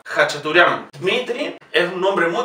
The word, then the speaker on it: Khachaturian: Fíjense, siempre que vean una K y una H, lo pronunciamos como J. Khachaturian.